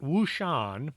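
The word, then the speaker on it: Huashan: Mount Wushan is one of the famous 5 mountains in China. It is spelled with an H, but it's pronounced as a W.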